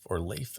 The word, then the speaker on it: Leif: Now, there's a couple of ways to pronounce his name. Growing up, I went to school with a kid who spelled it the same way and pronounced it Leif. And there's the American actor Leif Garrett. I've always used Leif, so that's just what's going to naturally come out when I'm talking.